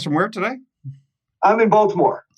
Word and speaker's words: Baltimore: where today I'm in Baltimore Baltimore yeah you pronounced the T I thought you weren't